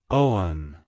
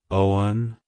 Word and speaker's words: Owen: meaning it's pronounced as Owen Owen Owen to pronounce it correctly emphasis the o sound and then smoothly transition to the one sound avoid emphasizing the W too much like hello Owen goodbye